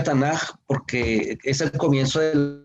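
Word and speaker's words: Tanakh: el canon hebreo se llama estándar y se pronuncia tana porque es el comienzo de las tres divisiones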